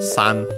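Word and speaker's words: 三: Yeah, we have again Mayoi no Mori, Forest of Illusion, Kosu, course, and then number 3 in its most common pronunciation on its own. So yeah, the Chinese one, San.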